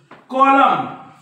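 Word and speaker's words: column: जोडीला जर एम आला या n च्या जोडीला जर एम आला तर हा एन नेहमी सायलेंट असतो मग असतो की नाही आपण बघू याचे स्पेलिंग बघू आपण कॉलम कॉलम त्याच्यानंतर डॅम डॅम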